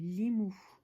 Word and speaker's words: Limu: Je suis le messager des dieux et mon nom est Limu. Ça s'écrit L-I-M-U.